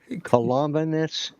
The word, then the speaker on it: Columbanus: Columbanus, Saint Columba. It's like Columbus, but it's not. It's got an extra syllable.